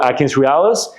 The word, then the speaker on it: AtkinsRéalis: Realis is like real. Yep. REALIS. Okay, .com. Yes. Okay. Or you can Google AtkinsRéalis, and then in that webpage you can look for register as a vendor.